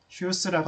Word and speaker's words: Hughes: 힘들겠죠 좋는 발음하기 쉬운데 라스트 네임이 좀 발음하기 힘들어서 제가 그때이 저자한테 직접 메일을 보냈던 거 같아요 어 당신 그 라스트네임 어떻게 발음합니다 하고서 메일을 보냈더니 휴스고 알려 주더라고요 알려주는데 그러면서 얘가 내